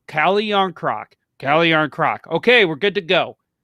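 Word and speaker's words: Kähkönen: can't say his last name okay cut it's cali yarncroc say cali young croc cali yarn croc okay we're good to go why not do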